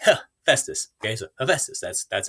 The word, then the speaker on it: Hephaestus: where they call them hepatitis the entire time which is super embarrassing so if you are curious how to say his name and you live in